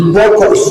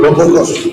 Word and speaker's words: Bokos: Senator Lalong, pronounce it for us. Huh? It's Bokos, not Bokos.